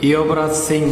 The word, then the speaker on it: যুবরাজ: ভারতের একজন বিখ্যাত ক্রিকেটার যুবরাজ সিংকে অনেকেই চেনেন। কিন্তু হিন্দি ভাষায় মোটেই তাকে যুবরাজ সিং বলা হয় না। বরং তাকে ইয়বরাজ সিং বলা হয়।